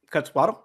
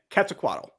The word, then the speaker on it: Quetzalcoatl: gave manny uh the divinity quetzalcoatl dahlia quetzalcoatl cut swaddle am i saying that yeah you don't you don't uh pronounce the qua it's cataclysm sequoia yep okay cat's a quaddle so dahlia what does your key look like